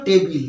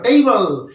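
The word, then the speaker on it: table: তার উপর বই টোই রাখি ইত্যাদি সেটা হলো টেবিল তাইতো আমরা সবাই জানি যে টেবিল টি এবিএল উচ্চারণটা হয় টেবিল কিন্তু সবসময় মাথায় রাখবে এর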